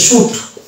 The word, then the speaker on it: suit: তারপর একটা ওয়ার্ড আছে যেটা, এই ওয়ার্ডের অ্যাকচুয়াল উচ্চারণ হচ্ছে শুট, এটা কিন্তু সুইট নয়, SUIT সুইট যদি বলি তাহলে শব্দটার প্রোনাউন্সিয়েশন ভুলে যাবে, এর উচ্চারণটা করতে হবে আপনাকে শুট।